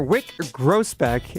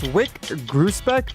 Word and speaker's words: Wyc Grousbeck: So, guys, that was Celtics owner Wyc Grousbeck.